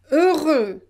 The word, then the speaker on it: heureux: Now I want to show you that when we have EU, we pronounce it E. E. Donc, par exemple, peu, jeudi, heureux.